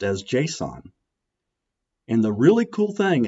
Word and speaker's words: JSON: The file extension is JSON, which is pronounced as JSON.